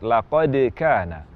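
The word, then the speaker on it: لقد كان: Misalnya waktu mengucapkan kalimat laqad kana. Laqad kana terucap laqad kana. Qalqalah huruf dal seolah-olah berharakat fathah atau cenderung ke harakat fathah. Ini tidak boleh terjadi demikian. Sehingga laqad kana dal cenderung ke bunyi fathah tidak tepat. Yang tepat laqad kana.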